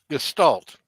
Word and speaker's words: Gestalt: Gestalt.